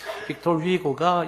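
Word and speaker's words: Victor Hugo: 빅토르 휘고가 있죠. 빅토르 위고라고도 이제 우리가 프랑스 발음으로 발음을 하지 않습니까? 장발장으로 유명한 빅토르 위고가 이런 이야기하는 걸 들었습니다.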